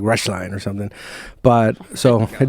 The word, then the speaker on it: Roeschlein: you say it so it's pronounced rush line russia so like i'm not in a rush and walk a straight line but it looks like